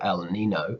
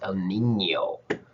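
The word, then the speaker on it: El Niño: the n in spanish means you pronounce it like ny instead of n so it's not el nino it's el nino anyway so you're gonna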